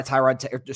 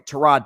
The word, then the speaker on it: Tyrod: Uh, Justin Fields got benched at halftime and replaced by Tyrod, sorry, Trod Taylor, that's how you say his name, Trod Taylor, who threw two picks in the second half.